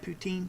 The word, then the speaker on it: poutine: looking forward to whatever that is is it poutin did I pronounce is that right poutine yeah um Cory is very much looking forward